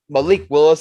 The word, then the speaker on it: Malik Willis: is going to be in position to draft Malik Willis, as I believe, Chris, that's how you pronounce his name.